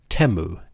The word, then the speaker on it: Atum: We call him Atum, but the Egyptian pronunciation might be closer to Teu, aka the one who is complete.